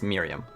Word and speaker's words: Mirjam: Well, it's Mirjam, but it's Miriam.